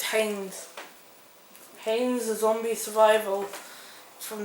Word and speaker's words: Heinz: is it Pine no Heinz is spelled h-e-i-n-z so it's Haynes Haynes the zombie survival